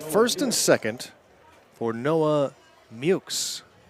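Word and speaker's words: Meaux: Talked to Noah before the game, for game 1 to get the pronunciation. And that was not one of my guesses. Spelled M-E-A-U-X. But I guess it's somewhat Americanized because he did say the real pronunciation, which was something different, but you know how that goes.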